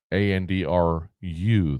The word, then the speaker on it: Andru: You look at his name and like, how do you pronounce it? It's just Andrew, like mine. Andru, though, instead of Andrew.